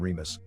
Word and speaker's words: Remus: the progenitors of rome in latin their names are pronounced with the accent on the second syllable romulus and remus in the early 19th